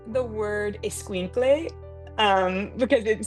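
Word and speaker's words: escuincle: I like the word esquinkle um because it sounds so funny.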